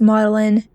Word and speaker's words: Magdalen: Yeah, the Oxford Botanic Gardens and Magdalene, but I'm pretty sure it's pronounced Modellin Tower.